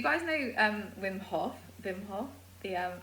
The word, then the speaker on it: Wim: don't know him it's w-i-m-h-o-f when vim i think it's pronounced but um and he